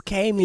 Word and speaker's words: Kami: "It's Cami, nigga." It's funny story. I think she lets me get away with it, but I know she doesn't like it pronounced that way. because she told me, I think me and Nate something. She's like, "Yo, it's Kami." Yeah.